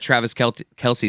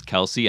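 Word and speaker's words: Kelce: and he's like no he told me in person that it's Kels but that everyone says Kelsey and then he just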